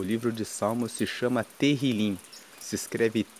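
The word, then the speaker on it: Tehilim: Inclusive, no texto original, o livro de Salmo se chama Terrilim. Se escreve T E H I L I M e Terilim significa louvores.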